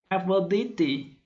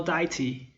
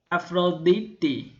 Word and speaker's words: Αφροδίτη: vowel is e and delta represents the th sound in father so her greek name is for deity afroditty any thanks for joining